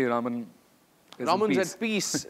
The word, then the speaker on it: Raman: So all you fans out there who think it's Raman Mahadevan, no, it's not Raman, it's Raman. Yeah, that's the actual pronunciation.